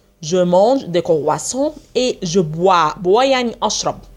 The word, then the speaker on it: croissant: cr او اي تنطق وا، اس تنطق س، ان تي تنطق on. je mange des croissants et je bois يعني اشرب، bois او اي تنطق وا، والاس هنا مش هتتنطق.